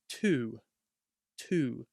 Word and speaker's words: to: So when we pronounce this word alone, we'd say to. But if you say go to the park, it sounds way too robotic, way too formal.